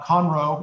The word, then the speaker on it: Conroe: who live there now how different their uh comro is that how you pronounce it yes um uh is from the